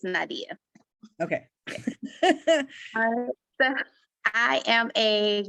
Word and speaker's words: Nadiyah: Well, my name's Nadiyah, and that's it's Nadiyah. I always like to point that out because most people, they say Nadiyah. It's Nadiyah. Wait, say it one more time, pronounce it one more time, because I was saying Nadiyah. Is it? Nadiyah. Okay. Yeah, like Aaliyah, it's Nadiyah.